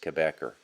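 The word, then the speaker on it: Cabécar: If you want to look them up and do a bit more research, it's Cabecare, Cabecare, or it's usually pronounced Quebecer, Quebecer. And it almost sounds like a denizen of Quebec, as I've said before.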